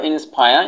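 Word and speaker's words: inspire: তারপর হচ্ছে নাম্বার 3 হচ্ছে যে ইন্সপায়ার, অনুপ্রাণিত করা, তোমরা এটাকে বলতে পারো ইন্সপায়ার, এখানে রর উচ্চারণটা বাদ দিতে পারো, ইন্সপায়ার।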